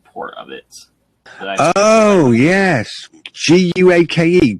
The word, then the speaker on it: Guake: Oh yes, Guake, Guake. I think it's pronounced, isn't it?